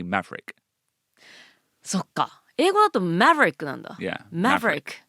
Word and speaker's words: Maverick: Yeah, we don't pronounce the VER. Like library.